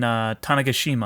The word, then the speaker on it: Tanegashima: With his friend Akiho the only two members of the Robotics Club in their their little school in Tanegashima, I believe is how you pronounce the place.